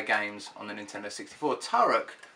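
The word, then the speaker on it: Turok: on the Nintendo 64 tarek or two rock as apparently it's supposed to be pronounced is to some people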